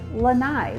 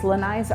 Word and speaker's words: lanai: And then the last thing I want to mention are actually lanais. Lanais are the little porches in the back of